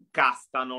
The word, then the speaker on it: Castano: Consiglio Arvedi, consiglio straordinario, ci sarà Castano, lo pronunciamo così.